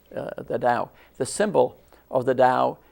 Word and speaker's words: Tao: beliefs known as the Dao spelled t-a-o but pronounced just like Dow Jones the Dao the symbol of the